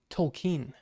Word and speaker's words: Tolkien: or Tolkien Tolkien well it's actually Tolkien actually is what he says oh that's it